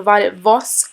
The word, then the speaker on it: Violet Voss: the Violet Voss palette sorry guys I've been pronouncing it wrong The Violet Voss palette I use my fingers also and I